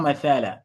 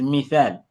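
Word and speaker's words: مِثَال: So iqra il-mithal is not mathala, it's mithal. I also said it now when I was reading. I said mithal. Please let's pay attention when I pronounce a word. Mithal, mithal. Okay? Mithal with a kasra.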